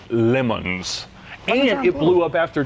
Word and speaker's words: Le Mans: blue okay so it's basically French John it's pronounced lemons and it blew up after just 55 000